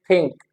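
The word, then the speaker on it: think: अब क्या होता है इन Pakistani English we pronounce दिस sound as थ हम कैसे प्रोनाउंस करते हैं थ थ के हिसाब से प्रोनाउंस करते से थिंक थिंक सो जो इंग्लिश में इसकी प्रोनंसिएशन है that is नॉट थिंक इट इज थिंक थिंक थिंक okay like wise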